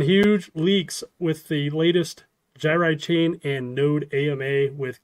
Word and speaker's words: Gyri: most popular name oh by the way it's pronounced gyri not jiri okay all right I am a doctor look